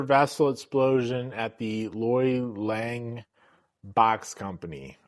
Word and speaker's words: Lange: And this is the pressure vessel explosion at the Loy Lange Box Company. I don't know if it's Loy Lange. It's Lange. I'm just going to say Lang. So if I'm mispronouncing that, sue me.